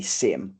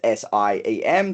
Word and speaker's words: SIEM: you to have a SIM or SIEM, however people prefer to uh pronounce it. It's SIEM, so you can go CM if you want to.